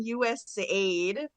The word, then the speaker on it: USAID: in the agency about how do you pronounce the acronym? Is it US aid or is it USA or we had a whole debate about that? But I think we settled on US aid and I worked there